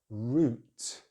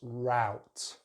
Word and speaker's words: route: Next one, British English use the long vowel sound oo, oo. Make sure you round those lips. So we say root, root. American English is a slightly different vowel sound. They use the ow sound, so it's route, route. So it's a diphthong, a double vowel. But in British English, root, root.